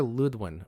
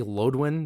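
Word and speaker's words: Lödwyn: I always want to say Lodwin because it's Lodwyn, but the O has the 2 dots symbol over it, so I believe it's supposed to be pronounced Ludwin, and I think I heard Carrie Patel pronounce it like that as well.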